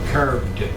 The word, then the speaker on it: carved: Carved. Carved. Carved. Carved. Carved. It's ed, but you pronounce it carved.